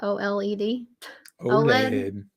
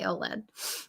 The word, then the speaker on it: OLED: how you say you just say it right OLED yeah that's right you say OLED uh TV can but have you ever thought